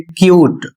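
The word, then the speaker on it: cute: और इसके बाद अगला शब्द है, इसको पढ़ेंगे क्यूट।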